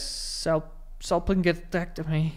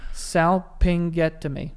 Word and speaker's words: salpingectomy: Salpingectomy. One more time. Salpingectomy.